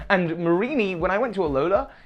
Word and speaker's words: Mareanie: And that's Mareanie. Is that how you say its name? Hang on, I gotta look this up. Yeah, because it's a marine meanie, and I think what